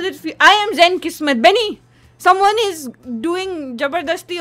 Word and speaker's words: Kismet: My name is not Biscuit. It's not Biscuit. No, I was saying. It's Zen Kismet.